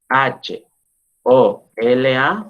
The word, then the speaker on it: hola: hola, así como suena, hola. La segunda articulación es cuando yo voy diciendo, bueno, la H no se pronuncia, entonces la dejo así.